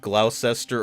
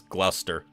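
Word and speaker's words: Gloucester: Yeah, that's uh what you would think would be pronounced glauscester or glowester is gluster.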